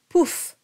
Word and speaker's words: pouf: And here we had, in the refrain by Vincent Dindy, we had the word pouf. Poof. So it's an oo, just like an owl.